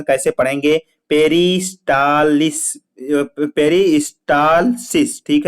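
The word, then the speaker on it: peristalsis: तो अब हम बात करेंगे, ध्यान दीजिए, पेरिस्टे क्या है बेटा, यहाँ पे लिखा हुआ था पेरिस्टेलिसिस मतलब होता है, इसको प्रॉपर प्रोनाउंसिएशन कैसे पढ़ेंगे, पेरिस्टालिस, पेरिस्टालसिस, ठीक है, पेरिस्टालसिस होता है।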